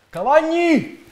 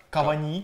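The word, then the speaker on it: Cavani: До речі, французькі коментатори чомусь називають його на французький манер Кавані. Кавані. Кавані. Ну, в принципі, це біда у всіх французьких коментаторах. Коли ти хочеш послухати, ну, в принципі, як правильно вимовляти прізвище, це взагалі нереально. Тому що у них все на їхній манер, на останній склад.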